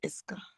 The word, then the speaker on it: Eska: C'est comme Ezeka, mais c'est Eska.